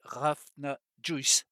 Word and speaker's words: Hrafna Juices: même si c'est pas ça paraît plus compliqué à une fois écrit que le prononcer et en fait c'est tout simple c'est raf n'a joyce voilà vous savez tout